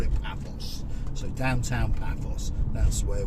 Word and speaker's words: Paphos: Technically now, as you may have noticed on the signpost, we've just entered Paphos. That's how the locals say it, but we'll call it Paphos.